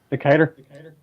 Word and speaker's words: Decatur: say jacket or is that how you guys pronounce that little town Decatur Decatur okay oh you still live up there